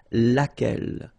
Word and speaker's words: laquelle: So basically same rule, Q-U, U is not pronounced here. And then you get this E-double-L-E, well, phonetically here, it is the same as what we have here. So, laquelle.